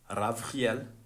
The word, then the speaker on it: Ravchiel: When it comes into Hebrewism, it becomes a ch. It is said that it is mentioned like this, like the Germans would pronounce their word. I forgot their word, man. But basically, it led me into that pronunciation of ch.